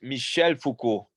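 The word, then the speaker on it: Michel Foucault: um and Michael there you go yeah it's Michelle Foucault okay sorry um isn't it foreign I'm a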